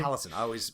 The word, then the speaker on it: Taliesin: Taliesin. I always mispronounce it.